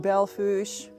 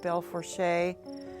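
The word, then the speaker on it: Belle Fourche: on a reservoir wildlife refuge pronounced belfoush if you were looking at it looking for it on a map you'd look for something that's felt like you'd expect it to be pronounced bell for shay more of a french spelling absolutely gorgeous the the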